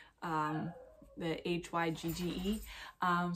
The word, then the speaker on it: hygge: talking about hygge versus higa um the hygge um so people do pronounce it higa i wasn't crazy because